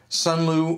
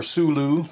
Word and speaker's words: SUNLU: Now, actually, of course, all of you that are familiar with filament dryer boxes, this is the SUNLU or SULU, depending on how you like to pronounce their name, from like 3 years ago.